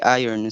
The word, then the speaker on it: iron: the other way please remember to say iron so that it will rhyme with lion advertisers with art beauties